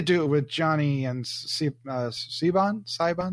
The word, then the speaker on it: Siobhan: And I would say like the only relationship, and they tried to do it with Johnny and Sibon? How do you pronounce her name? Siobhan.